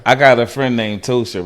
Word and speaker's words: Ptosha: I got a friend named Tosha, right? And she spelled her name Ptosha. The P is silent. And if you call her Patosha, she would have a fit.